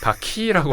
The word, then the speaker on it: VAQI: 네, 원래 바퀴인데 그 바퀴가 맞는데 이게 바퀴하면 너무 뭐 바퀴벌레 이렇게 돼서 그냥 저희가 발음할 때는 그냥 바퀴라고 하고 스펠링은 VAQI입니다. 그래서 영어로 표기를 합니다.